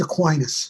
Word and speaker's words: Aquinas: Thomas Aquinas. Am I saying his name right? I've heard it pronounced so many different ways. It's usually pronounced Aquinas. Aquinas, good.